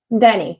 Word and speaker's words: Dany: So my guest this afternoon or this evening is pronounced Dany, yes? Dany. Oh, just Dany.